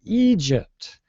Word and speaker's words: Egypt: Maria's country um but in North American English we pronounce your country with a longer e sound we don't say Egypt we say Egypt we say Egypt um oh yeah um